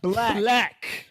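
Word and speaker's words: 6lack: Bro, his merch literally say 6 lakh pronounced black.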